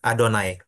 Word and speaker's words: Adonai: ada yang bacanya yahwe ada yang bacanya yehovah tapi sebenarnya orang Yahudi sendiri enggak enggak baca Oh iya mereka nyebutnya bukan yahwe bukan Yehova tapi adonai Oke Oke Oke makasih